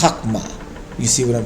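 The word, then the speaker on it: חכמה: If you remove the, like if you're saying wisdom is Chakma, it's not Hakama, it's Hakma.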